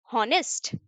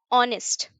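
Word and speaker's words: honest: यहाँ क्या है, ही इज, ये जो प्रोनाउंस करते हैं वो क्या करते हैं, हॉनेस्ट या ऑनेस्ट, ऑनेस्ट करते हैं।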